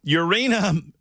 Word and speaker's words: Yurina: Yurina, I guess it's pronounced like Purina, Yurina Noguchi, a 32-year-old woman living in Japan, recently walked down the aisle to wed Loon Klaus Verdure.